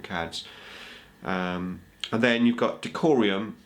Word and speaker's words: Decurion: And then you've got Decurion, which I can never seem to pronounce very well. Decurion, I think it's Decurion.